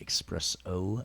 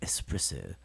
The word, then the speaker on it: espresso: shouldn't be it's like there's no X and espresso it's it's not expresso its espresso that's how I knew